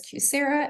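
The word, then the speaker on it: QSEHRA: We refer to them as QSERA and ICRA. That's our phonetic spelling or phonetic pronunciation of these acronyms.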